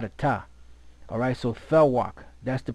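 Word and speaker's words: תָּוֶךְ: Strong's H 8432, Tavech, Tavech. See, it should be thawak, because there's no V in the Hebrew.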